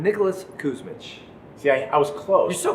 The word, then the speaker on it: Kusmich: So I actually want you to tell the audience exactly how you pronounce your last name. Nicholas Kusmich.